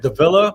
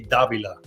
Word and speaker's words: Davila: Growing up, everybody said Davila, but it's actually Davila.